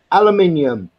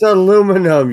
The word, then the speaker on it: aluminium: Aluminium. Screw you. Aluminium. It's aluminum, you fucking cunt.